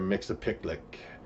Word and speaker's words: Mxyzptlk: Mxyzptlk, and that is how you say it, I promise.